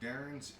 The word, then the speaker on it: Daern: As long as you type in Darren's and hit search, it pops up.